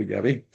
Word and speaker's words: Yahvé: De ahí, de esa expresión de Jesús salen las cuatro letras, que es W, H, Y, eso se pronuncia Yahweh o Yahvé.